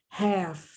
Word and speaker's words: half: When the L in the word is silent, it's not pronounced. Half, calf, salve, calves.